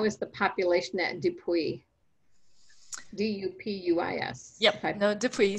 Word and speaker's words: Dupuis: D-U-P-U-I-S.